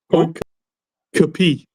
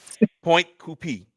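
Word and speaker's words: Pointe Coupee: Point Capee. Point Yeah. Capee. Point Copy. Yeah, What did that's I how say? it's pronounced. You said coupe. Okay. Oh, thank you. Point Coupé.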